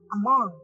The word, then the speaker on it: among: আমাদের এটা একেবারে কমন যেটা আমরা করে থাকি, মিসপ্রোনাউন্স করে থাকি, সেটা হলো নাম্বার 1 তুমি বললে হচ্ছে অ্যামং, এটা হচ্ছে আমাং, Among, আমাং।